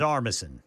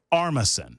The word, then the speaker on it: Armisen: I mean, I'm a big fan of, I can never pronounce his last name. Fred Armisen. Armisen.